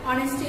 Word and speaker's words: honest: Honesty is the best virtue.